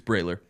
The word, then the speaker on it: Brahler: It's Brahler. It's Brahler? It's dumb, There's no way. but it's Brahler. It should be Brawler.